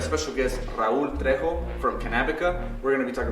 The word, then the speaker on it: Cannabica: That's how you pronounce it, right? Cannabica.